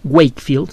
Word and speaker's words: Wakefield: Mire, hubo un caso en 1998, un ex investigador Andrew Jeremy Wakefield, se escribe W-A-K-E-F-I-E-L-D, Wakefield.